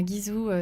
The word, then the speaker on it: Guizhou: Donc Tourisme Guizhou sur Facebook. Alors Guizhou, c'est la prononciation française, voilà. En chinois c'est Guizhou, c'est ça.